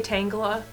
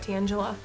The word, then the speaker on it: Tangela: You say Tangela, not Tangela.